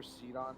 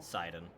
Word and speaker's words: Sidon: don't are we Hardy for seedon still sidon it is pronounced yeah it uh sidon's